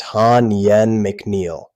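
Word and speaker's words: Ha Nguyen McNeill: TSA acting administrator Hanwen McNeel, that name is pronounced Han Yen McNeel, testified before the House Appropriations Subcommittee on February 11th.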